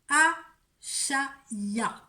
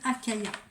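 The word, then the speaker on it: Achaiah: Entre le 19 et le 23 avril, vous êtes protégés par l'ange Achaya. A-C-H-A-I-A-H. Certains peuvent prononcer Akaya. Qu'est-ce qui nous apporte cet ange Achaya? Moi j'aime bien Achaya.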